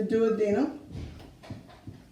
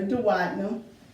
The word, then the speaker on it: duodenum: The first segment is the duodenum, or duodenum. I'm not going to keep saying that, but I do want you to know you can pronounce it either way.